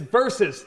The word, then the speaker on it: versus: Doug very good and it's versus don't say B it's versus it's one more syllable you know it's a court case basically okay so going over